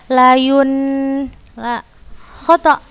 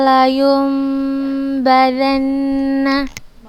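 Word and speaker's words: لَيُنْبَذَنَّ: Ustazah membaca dengan suara mim, bukan ustazah membacanya layun la khata. Kalla layum badanna.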